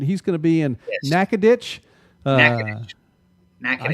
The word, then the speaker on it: Natchitoches: He's going to be in Natchitoches. Natchitoches. I said it right. Well, did I say it right? Natchitoches. Natchitoches. You just got to let it roll. You two Oklahoma there. Just let it roll, Natchitoches.